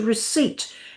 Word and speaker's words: receipt: That's making a mockery of the pronunciation and a P into receipt to link it to the Latin word recipe. Even though that word in speech never had a P sound.